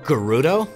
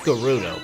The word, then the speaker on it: Gerudo: time and a few others that feature the Gerudo it's pronounced Gerudo but some like to argue that Gerudo and